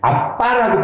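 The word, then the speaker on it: Abba: 뭐라고 부를 수 있다고요 아바 아버지인데 원래 헬라어 아빠라는 말은 아빠라고 발음한게 더 정확해요 아빠의 그래서 다시 말씀드리면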